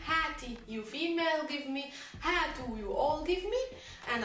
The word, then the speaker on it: هاتوا: Note that the alif is not pronounced, you just write it but you don't read it.